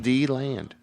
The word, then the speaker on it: DeLand: D-Land.